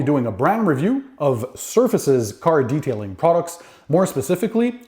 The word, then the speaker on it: ServFaces: mentioned today I'll be reviewing surfaces products now it's spelled serve faces so it's a cool twist to the name surfaces they're based out of